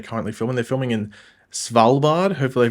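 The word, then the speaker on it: Svalbard: they where they're currently filming they're filming in salard hopefully I pronounced that correctly it's SV l b a r valad hopefully I pronounce it correctly um but yeah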